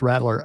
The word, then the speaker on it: Rattler: Yeah, so some people need to say his name right. It's Rattler.